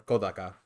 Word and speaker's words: Kodaka: I know specifically the director Kodaka or Kodaka, uh, because I have to be annoying and say it correctly.